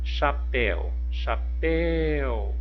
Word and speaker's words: chapéu: Chapéu. O pel, olha, o pel é a última sílaba e é a sílaba tônica, então também é uma oxítona, ok?